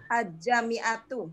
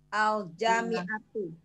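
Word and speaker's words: الجامعة: Itu ada bunyi lamnya tidak? Alja apa langsung aja? Ajami'atu.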